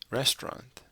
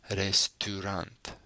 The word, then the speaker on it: restaurant: the spelling Resturant so this is an o sound regardless of how it's spelled it's an o sound the o u is